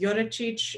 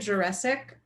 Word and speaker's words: Jurecic: only have one sibling my last name is Slovenian it should be pronounced Yoda Cheech it got corrupted on